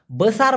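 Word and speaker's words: besar: পারেন নেক্সটে বড় বড়কে মালয়েশিয়ান ভাষায় বলা হয় বেসার বেসার অনেকে বলে বুসার না মূলত সঠিক উচ্চারণটা হবে বসার এখন এই বড় দিয়ে একটা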